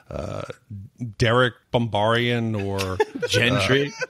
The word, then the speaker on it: Gendry: uh Derek bombar or Gendry Gendry the hard gee wildings yes so so